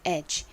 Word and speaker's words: edge: 여기서 D는 묵음, G는 쥐 소리가 나죠? 한국식으로는 이 단어를 엣지 라고 표기하는데 실제 발음은 edge입니다. edge. 끝에 이 G 부분을 약하게 바람 빠지듯이 발음해 주셔야 합니다.